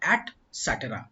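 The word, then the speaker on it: et cetera: Okay, इसको बोला जाता है एटसेट्रा। ध्यान देना, इस वर्ड का प्रोनाउंसिएशन होता है एटसेट्रा।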